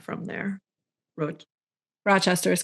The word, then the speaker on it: Rochester: Rochester is correct.